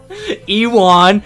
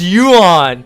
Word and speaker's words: Ewan: so sick um ewon it's pronounced yuan yuan yeah you're right sorry sorry you're mcgregor i guess i didn't say ewan mcgregor uh sorry i'm getting flamed out here um uh it's definitely pronounced you when you're right um but